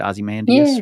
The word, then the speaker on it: Ozymandias: Ozymandias, right?